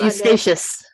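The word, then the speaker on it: Eustatius: You have to pronounce that for me, Colleen. It's Eustachius. Eustachius, thank you.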